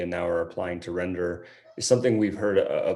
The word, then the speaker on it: Rendr: Render is actually Chinese for dignity and kindness, but it's pronounced render.